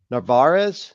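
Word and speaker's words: Narváez: One of the actually better hits the situational hits in the series was Narvarez is how you pronounce it.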